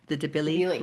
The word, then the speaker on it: Debilis: So the funny thing about, and you said the pronunciation is the Debili Debilis.